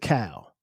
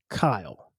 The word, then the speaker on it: Kyle: you're from the West, you're probably going to pronounce it Cal. If you're from the Midwest and you're from the North, you may pronounce it Kyle.